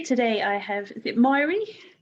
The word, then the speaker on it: Mairi: Hello, today I have, is it Mairi? It's Mairi. Mairi. Mairi rhymes with safari.